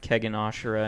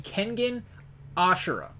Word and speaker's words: Kengan Ashura: Gear has actually started Kegan Ashura, and he actually likes it a lot. Can I just intervene for a second? Can you just say it correctly? Kengan Ashura. Or Ashura. No, you have Kegan.